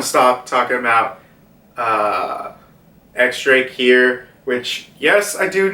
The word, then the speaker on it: X Drake: stop talking about uh x drake here which yes i do know it's it's actually supposed to be pronounced as diaz drake but x-ray just sounds